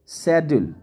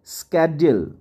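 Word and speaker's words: schedule: से वाकिफ ना हो इन the same way शेड्यूल शेड्यूल जो है ब्रिटिश इंग्लिश में या इंडियन इंग्लिश में इसको पढ़ा जाता है वल इट is pronounced स्केड्यूल स्केड्यूल in American English बेसाइड्स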